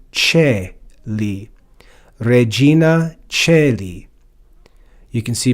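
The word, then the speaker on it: caeli: Here in classical Latin, this word would be read as Kylie. But in classical Latin, because the diphthong AE is pronounced E, that softens the C to Celi.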